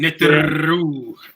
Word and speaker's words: Neteru: yeah, You're supposed to roll your R's when you say Neteru. you right. Okay. Neteru.